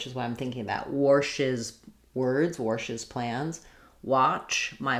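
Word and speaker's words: Warsh's: When I have an S or a Z here, or an SH sound, when I add the possessive, it's just going to add a syllable, passes. So if it's anything other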